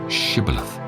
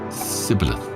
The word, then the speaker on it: Shibboleth: If he say nay, then said they unto him, Say now Shibboleth. And he said, Sibboleth, for he could not frame to pronounce it right.